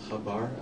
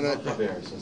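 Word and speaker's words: חבר: Is chavar a snake charmer? Is that the name of a profession, a chabar? I think so. Yeah. No. Chaver, so It should be pronounced chaver.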